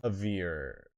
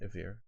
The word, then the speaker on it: Avir: A veer. What is it? A veer. A veer. A veer. Spell it.